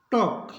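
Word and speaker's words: talk: मतलब इसको पढ़ेंगे कफ टी ए एल के एल के बाद के है इसको पढ़ेंगे टॉक यानी कि इसमें L silent CO यू एल डी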